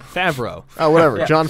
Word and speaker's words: Favreau: It's either the fact that John Favreau makes an appearance in it, That was an interesting syllabic emphasis there. or John Favreau. How do you pronounce his name? Favreau.